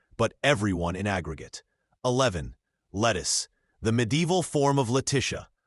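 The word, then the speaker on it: Lettice: By the 1600s, it sounded like lettuce. English pronunciation had shifted just enough that the name became a homophone for a vegetable.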